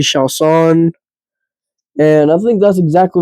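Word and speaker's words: Chiasson: Shout out Udica for uh teaching me how to say it right. Said it wrong on the last pod that I went on them with. But uh yeah, she got absolutely dog walked and elbowed by Macy Shaan.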